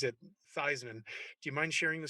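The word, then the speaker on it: Theismann: it you convinced not only joe thiesman to pronounce his name theisman uh but even his family to this day pronounces it theisman do you mind sharing the story yeah that's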